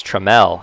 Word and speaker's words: Trammell: have a guy named taylor trammell but it's tremel he pronounces it spelled the exact same way from